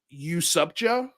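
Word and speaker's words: UASUPJPO: say it out i i pronounce it you sub-joe sure it's almost like what's up joe but you sub joe um but yeah this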